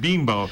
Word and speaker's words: Bimbo: uh he mentioned because i said group of bimbo and he goes no it's pronounced beanbow and i'll be better yeah yeah that sounds